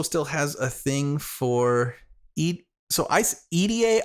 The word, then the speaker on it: Idie: Quentin also still has a thing for EDA. I think that's how you pronounce her name. I've also heard people pronounce her name as ID.